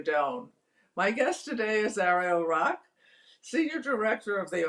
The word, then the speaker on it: Ariel: all right um so my name is uh Ariel as you pronounce correctly which not all people do um